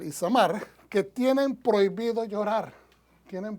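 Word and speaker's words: Itamar: pronuncian, Eleazar e Ismael, e Isamar, no Ismael, Isamar, que tienen prohibido llorar,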